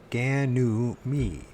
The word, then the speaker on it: Ganymede: So it's like a reed, mead. Ganymede.